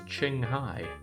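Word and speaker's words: Qinghai: what a horrible existence to these people Chinese Q is pronounced like chess so it's Ching Hai but then why would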